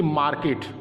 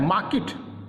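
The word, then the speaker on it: market: इसे क्या पढ़ते हैं मार्केट ग्रह पड़ते हैं यह प्रश्न गलत है हमें क्या करना है मार्किट क्यों पढ़ना देखिए इसमें भी आप साइलेंट है क्यों साइलेंट है क्योंकि आर के पहले एक और के बाद में कि यहां आओ के करेस्पांडेंट है और अव्वल है तो आप साइलेंट हो गया इसे हम मार्केट ना पढ़कर को मार्किट पढेंगे गिरावट टारगेट टारगेट नहीं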